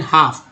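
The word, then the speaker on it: half: होगी ना, more than हाफ, यहाँ पर जो है एल साइलेंट है, हाफ, हाफ नहीं पढ़ेंगे, हाफ ऑफ the Indian population, देखिए पॉपुलेशन हो गया।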